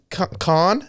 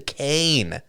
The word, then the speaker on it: Kane: and it read citizens am i pronouncing this right citizen khan citizen kane kinison isn't game oh it's a hard k it's a hard seat it's hard okay sounding kid is it